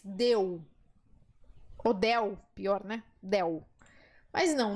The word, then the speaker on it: del: Del. Mas não, no espanhol, a letra L é sempre L. Então, eu vou te pedir que você faça uma força maior para pronunciar esse L, tá?